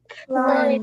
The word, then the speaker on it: climb: Climb. Climb. Climb. And the B right here is silent. I don't pronounce it.